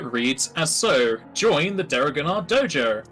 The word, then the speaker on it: Deregannar: That's Alright, the flyer reads as so: join the Deregannar Dojo, starting with a silent D. Yes, well, it's like Django. You don't say the D, it's just Django.